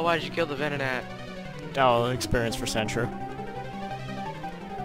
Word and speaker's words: Venonat: Vedinat. Don't you guys say it like there's a T in the middle of it. Vedinat. Vedinat. Venonat.